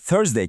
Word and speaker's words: Thursday: Bir diğer kritik ses de Thursday kelimesindeki T sesi. Bu ses Türkçede olmadığı için biraz pratik gerektiriyor. Evet. Dilinizi hafifçe dişlerinizin arasına koyarak bu sesi çıkarmayı deneyin.